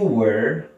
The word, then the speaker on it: were: Este es were, como que se cierra la pronunciación al final, were, y el otro es where, como más amplia.